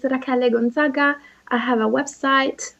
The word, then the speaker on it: Rachele: So it's supposed to be pronounced Rachele? Rachele. I've been getting it wrong the whole time. Yes. Oh, it's fine. I'm used to it. So it's Rachele. Is that right? Rachele. Rachele. Yes, Rachele. Oh, that's really Rachele.